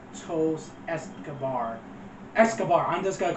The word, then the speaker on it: Escobar: but I said esar it's Escobar not eston I keep saying eson